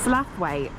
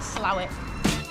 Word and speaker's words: Slaithwaite: is this area Mel slwe slawe other people pronounce it slow we name him Wilson